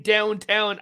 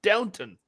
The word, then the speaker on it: Downton: For one, you're saying the name wrong. You're saying Downtown Abbey. It's Downton.